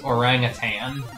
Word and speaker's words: orangutan: I still say orangutan. Okay. Oh, God. The G is silent. The G is invisible.